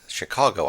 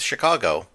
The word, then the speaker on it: Chingachgook: For instance, one of his acute Indian experts, Chingachgook, pronounced Chicago, I think, has lost the trail of a person he is tracking through the forest.